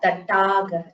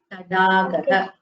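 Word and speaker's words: तडागः: This is Tadagaha, not Tatagaha. It is not the first Dakara. It is the third Dakara. It is a Mridu Vyajana. You should not emphasize while pronouncing it. Okay? Tadagaha.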